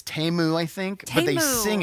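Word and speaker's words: Temu: they don't pronoun it's TAMU I think but they sing it TAMU is that it but it's not timu I've called it timu forever that's not how you say it I totally forgot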